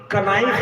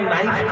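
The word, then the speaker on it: knife: किसी को समझने अभी के एन आई एफ ए kanaif की जगह नाइफ क्यों हो गया ये नई जीएसटी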